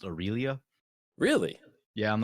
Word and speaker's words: Aurelia: comments that that is why you know where Railly is actually pronounced Aurelia really yeah I'm not changing at this point